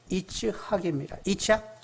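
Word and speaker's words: יצחק: 이삭은 히브리 발음으로는 이츠학입니다.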